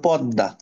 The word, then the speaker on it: পদ্মা: জন্য আমি কি বলেছিলাম শব্দের মাঝখানে বা শেষে যদি ম ফলা আসে তাহলে ওই ম ফলার কারণে উপরে যে লেটারটা থাকে ওটা ডাবল হয়ে যায় তাহলে আত্মীয় পদ্মা হুম